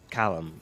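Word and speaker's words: xalam: This is he was playing an instrument called a callum which is which is spelled X A L A M.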